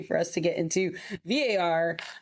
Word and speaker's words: VAR: They were like, it is VAR, not VAR, not anything else. It's VAR. Don't mispronounce it.